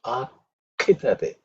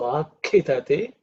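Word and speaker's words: आखिदते: Second consonant, akhidate. So it has to be aspirated. So akhidate, prakhidate. That again, uk and k come. Okay, so pay attention to that.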